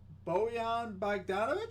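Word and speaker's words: Bojan Bogdanović: two i got three made threes by bo boyan bagdanovic is how you pronounce his name uh plus 148 odds there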